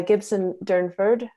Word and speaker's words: Gibson Durnford: we're going to um have a presentation by gibson durnford did i pronounce that right absolutely good and um fiber